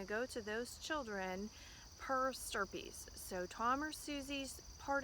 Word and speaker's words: per stirpes: Your computer, if you type it, is probably going to want to call it per stripes, but that's not it.